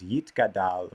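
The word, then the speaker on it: Yitgadal: more thing is that the transliteration that i've reflected here says yit gadal which follows the uh safari pronunciation that has become normative in modern hebrew so you may or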